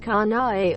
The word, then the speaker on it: Kanae: It's 3 claps, syllables, quote.